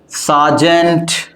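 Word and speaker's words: sergeant: सार्जेंट, dobby, it's not derby, it is what, dobby.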